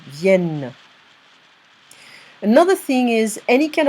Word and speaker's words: viennent: You're going to see ENT, but if it's on a verb, you're not going to pronounce the ENT. Here it's viennent. Okay? So ENT on verbs, it's E sound, viennent.